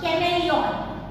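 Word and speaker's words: chameleon: नॉट do like अ कैमेलियन। Now this spelling don't read कैमेलियन, सी एच मतलब च नहीं, सी एच ए एम ई एल ई ओ एन, कैमेलियन क pronounce करना है, कमल का क।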